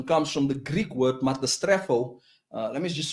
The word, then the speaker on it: metastrepho: And the word perversion comes from the Greek word metastrepho. Let me just spell that for you.